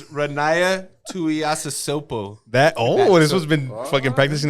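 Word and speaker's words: Ronaiah Tuiasosopo: It's Ronaya Tuiasosopo. This one's been fucking practicing that pronunciation.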